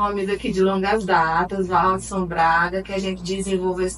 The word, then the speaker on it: Valdsom: Se você que está nos assistindo quiser acompanhar meu trabalho, tem meu Instagram, @ValdsonBraga. O D é mudo e M no final.